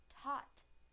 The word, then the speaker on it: taught: taught taught taught now the a sound in the word taught taught taught now I will use